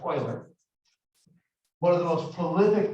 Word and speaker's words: Euler: I know it looks like Euler, but it's pronounced Euler.